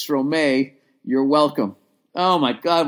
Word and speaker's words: Stromae: That's how you say it? Stromayor. No. My God, I'm an idiot. Oh, my God, I'm a fucking idiot. It's Stromae.